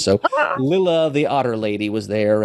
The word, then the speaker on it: Lylla: And Rocket was there, and Lilla was, I can't say Lila because it's spelled Lylla, and a double consonant usually makes for a short vowel sound. So Lilla, the otter lady, was